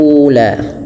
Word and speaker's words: الْأُولَى: Kemudian ula, u juga ada hamzah bertemu dengan waw yang mati, yaitu dibaca dengan mad badal ula mad tabi'i.